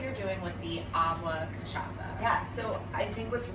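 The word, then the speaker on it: Cachaça: going to be making some delicious cocktails using kashasa you got it right I had to learn how to pronounce that for this so kashalsa if you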